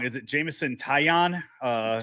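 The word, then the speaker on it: Taillon: Is it Jameson Tyion? Uh Tyion.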